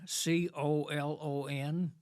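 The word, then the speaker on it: Colón: Atlantic coast which is called colon c-o-l-o-n pronounced colon and you and I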